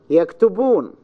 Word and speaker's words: يكتبون: If you have a word of more than 2-3 syllables, multi-syllable, then the stress is in the last syllable in Arabic. يكتبون, يكتبون, يكتبون. The last syllable is stressed.